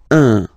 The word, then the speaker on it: un: So when you put these two letters together, it can be quite tricky to pronounce at the beginning. Of course, after that, you will master it without any problem and without any doubt, but you've got to pronounce it like un.